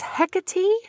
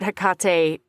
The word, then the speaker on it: Hecate: but I always yeah I always read it hekate because most of the time I'll read things with Hawaiian pronunciation before anything else you know well